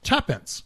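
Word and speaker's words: twopence: It is, of course, 2 pence, pronounced tuppence.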